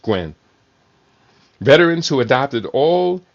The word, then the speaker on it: Nguyen: Or Gwen, I guess it would be. It's a Vietnamese name, Nguyen. I think it's pronounced Gwen.